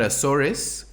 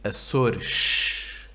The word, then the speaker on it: Açores: If there's an S at the end of a word, it's obviously at the end of the last syllable. but it could be at the end of a syllable, not at the end of a word.